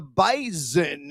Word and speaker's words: Bison: Give me North Dakota State A of the Bison. I got to pronounce that with like a Z sound, also known as Carson Winchu.